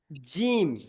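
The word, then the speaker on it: جيم: আচ্ছা তারপরে দেখেন এই যে অক্ষরটি দেখতে পাচ্ছেন এই অক্ষরটি হল জিম এ অক্ষরটি কি এই অক্ষরটির নাম হল জিম জিম জিম একটু চেপে উচ্চারণ হবে এই অক্ষরটির নাম হলো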